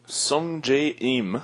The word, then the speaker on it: Sungjae Im: Sungjae Im.